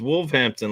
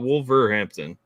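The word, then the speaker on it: Wolverhampton: didn't pronounce the ER I thought you said it was just wolf Hampton like not wolver Hampton wol rampton wolves wol rampton wol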